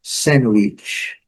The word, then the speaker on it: sandwich: Alguns lugares eles consideram o D também, mas o normal, na conversa do dia a dia, sandwich.